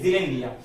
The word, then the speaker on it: Zealandia: रहा हूं, ज़ीलैंडिया, ZEA, आगे यहां देखो मैंने स्पेलिंग लिखा है LANDIA, ज़ीलैंडिया।